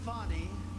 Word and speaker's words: Fani: let me play it he worked with fonnie even though it's spelled Fanny f a n i f how about